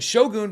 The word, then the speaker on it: Shogun: I'm saying Shogun because Hiroyuki Sanada said Shogun. That's how he pronounced it, and I'm just going to take his word on that one.